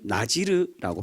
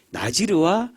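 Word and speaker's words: נזיר: 표현합니다 우리 말로는 나시라고 발음하는데 원래 웜 히브리어 발음은 나지르고 표현합니다 나지르 나시리 아 나자렛 비슷한 발음입니다 그니까 같은 부류의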